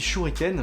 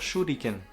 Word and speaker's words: 手裏剣: de la vidéo, mais le RI se prononce bien li, comme un LI, comme un lit, en fait.